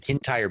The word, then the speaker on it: Kintyre: I looked up how to pronounce that. The Kintyre Peninsula is this whiskey region for some reason.